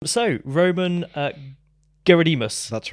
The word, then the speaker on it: Gerodimos: that is the closest to the Greek way, so that's actually pretty good.